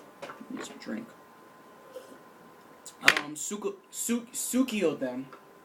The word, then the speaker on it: Suikoden: The whole classic Konami series of Sudoken. Need some drink. Suikoden, pronounced it.